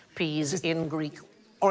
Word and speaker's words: psi: So, for example, the letter PSI, all right, that is the single letter there, and we pronounce it psi, but in Greek, that sound is more like the PS that we have in laps.